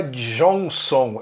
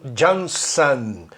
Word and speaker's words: Johnson: Esse ON para americanos, a pronúncia é an. Então, guarde isso. Vou dar umas palavrinhas que os brasileiros pronunciam on e quando deveria ser an. Por exemplo, Washington, não é Washington. Não é Boston, é Boston, o nome da cidade. Não é Johnson, é Johnson, ok?